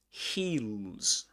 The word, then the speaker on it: heels: Heels. Heels. Got this final Z. Heels. Heels. This long e sound.